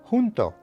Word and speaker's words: junto: And finally, whenever you see the letter J, treat it as if it were an English H at the beginning of a word. For example, this word would be pronounced junto, which means close to or near.